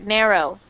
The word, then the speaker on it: narrow: And the different thing is that we do not really pronounce the W very strong.